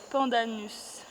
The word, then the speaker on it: pandanus: Donc là, c'est le pandanus. C'est ça que vous avez. Oui. Pandanus, c'est Je l'ai dit. Comment ça s'écrit?